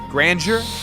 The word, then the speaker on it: grandeur: Grandeur? Grandeur, I think is the correct way to pronounce that.